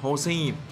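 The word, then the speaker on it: 星: tinh ngoài ra thì chữ canxi này còn có thể được đọc là Hoshi ngoài việc nó có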